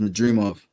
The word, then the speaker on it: Madrimov: It's pronounced Madrimov.